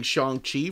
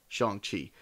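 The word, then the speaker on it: Shang-Chi: pronounce his name because i've been mispronouncing shang chi for the last 35 years of my life do not take me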